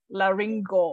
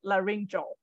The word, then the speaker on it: laryngo: Malaysia so remember like remember how you pronounce this one laryngo right not La ringjo so do the same